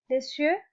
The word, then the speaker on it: les yeux: Les yeux means the eyes. Imagine that this Y is an I, una letra I, que se une con el sonido de esa S. Por eso se pronuncia les yeux.